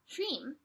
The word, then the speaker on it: Hreem: I have the yantra mantra Hreem, and Hreem is kind of like Om.